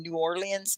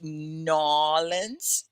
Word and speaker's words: New Orleans: these french pastries yes can you say nollens it's new orleans but they say it like this new orleans is how you'd say it in you know formal english but the people down in in louisiana call it nollens okay so you'd have to sound like that okay so here come